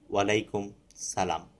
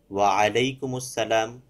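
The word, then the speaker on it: وعليكم السلام: সালামের জবাবে বলতে হবে ওয়ালাইকুমুসসালাম ওয়ারাহমাতুল্লাহি ওয়াবারাকাতুহ। আরবি দেখে এর সহি উচ্চারণ শিখে নেয়া উচিত। অন্যথায় কন্ঠ বাদ পড়ে যায়।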